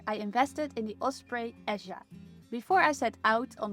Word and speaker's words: Eja: It's actually pronounced Asia, but as I hike in Spain, I pronounce it in Spanish, EA.